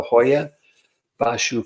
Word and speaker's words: Hoia Baciu: I'm gonna give you how it's pronounced in Romanian and then I'm gonna I'm going to English it up for the rest of us so um we're going to talk about the Hoya bashu fall Roost Forest which